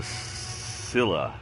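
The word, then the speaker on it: Scylla: had just traveled to Silla I think as the way it's pronounced s cyl LA we have multiple missions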